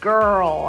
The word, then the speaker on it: girl: It's a girl, a g, girl. Do you remember, is g, a soft G or a hard G? It's a hard G, g, girl.